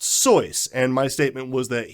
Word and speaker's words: Seuss: false uh you know soy is the correct pronunciation it's German however after you know short time of trying to trying to correct people he decided it's not worth it and Seuss actually brought to mind